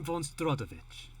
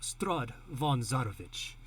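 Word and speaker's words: Strahd von Zarovich: anything else i am strodovich history check at all for that or i should say mike this is my bad i made i said the name wrong my name is count straud von zarovich okay so you certainly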